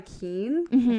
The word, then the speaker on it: Keane: only other thought was better than this by Keane that's how you say it um that plays